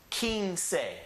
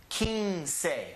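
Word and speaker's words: quince: your bed and look the letter Q has two sounds it's either a key or a K and this one is the pronunciation key so we start off with the key put an in on it and so we have King say so it's two syllables king say leave that with me Kings say one more time King say King say King say yeah let's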